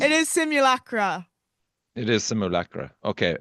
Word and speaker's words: Simulacra: It is Simulacra. Okay, it's Is that how you pronounce fantastic.